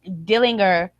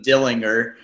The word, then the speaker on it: Dillinger: Ty Dillinger and I love that you and just called him Dillinger. That's not how you it's Dillinger.